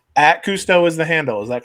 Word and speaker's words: Kustoo: At Cousteau is the handle. Is that correct? Is that how you pronounce it?